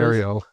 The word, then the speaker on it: Ariel: Ariel. Yeah. Well, she's spelled with double L E.